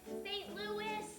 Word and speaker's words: St. Louis: one i guess the saint louis hot spell dinner in excuse me mrs neely but it's pronounced fate lewis i've got a cousin spelled the same way we call him louie he's not a